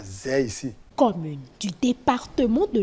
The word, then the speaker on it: Zè: Aujourd'hui, Zé a pu bénéficier de quelques kilomètres de voies bitumées. Aïzé, c'est les Blancs qui ont changé la prononciation Aïzé à Zé.